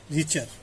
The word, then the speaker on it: Richter: Reciprocal This law was given by Richter। T silent है यहाँ।